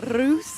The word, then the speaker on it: Russa: Can you roll your R's? I can try. Go on, give it a go. Rusa.